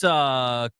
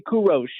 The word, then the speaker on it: Kurosh: Let's get out to, is this Kurish? Karush? I'm not sure how you say it. Koresh? Koresh Hey in guys, Herndon? how you doing? Hey, what's going on? Good. Yeah, it's actually Kurosh. Kurosh.